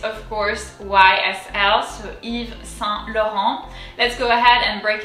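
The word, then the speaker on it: Yves: behaves like an i eve the s is silent so that makes it fairly easy eva moving on to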